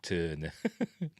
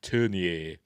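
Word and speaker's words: Tourneur: apparently it turned it how they pronounce It in America they just called him Jack Turner but he's a Frenchman called Jack turnier um he didn't want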